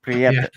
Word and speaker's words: Prieta: Loma Prieta earthquake. Oh, okay. Well, I'll roll my tongue on the R. Prieta. Yeah. I'm French, so I roll my tongue on the R's.